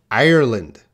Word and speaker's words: Ireland: Can you hear the difference? Ireland. Island.